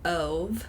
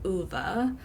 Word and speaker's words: Ove: I listened to it on audiobook, which is probably great that I did because I would have pronounced it Ove instead of Uva.